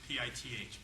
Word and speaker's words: pith: Well, there's another exception, and this is the pith of the lease exception. No, I didn't stutter, that's the way it's pronounced, P-I-T-H, pith of the lease, which means